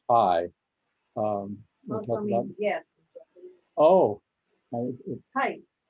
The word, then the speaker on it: HAI: know, Human Awareness Institute, HAI, is pronounced high.